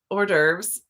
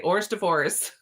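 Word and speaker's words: hors d'oeuvres: cracks me up because every time I see it I read it phonetically so I say ORS divorce in my head and then I'm like wait a minute I know that's not right what is it and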